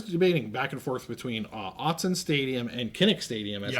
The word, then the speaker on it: Autzen: I think it's pronounced Autzen Stadium. Pretty sure it's Autzen Stadium.